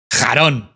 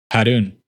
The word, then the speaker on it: Harun: It's Harun. Ha. I got your ass. not anime voice. What? Harun. Harun. It's as in moon and it's her, not ha.